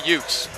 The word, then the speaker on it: youth: By the way, youth, we pronounce youth the way Vincent Gambino, attorney at law in the movie My Cousin Vinny, pronounced it. Here it's the Utes.